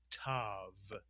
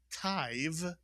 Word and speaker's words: tav: And the third syllable tav. Not taiv, but tav. Whenever a kamatz and a yud come inside a word, the vowel makes the same sound as the kamatz itself, simply ah.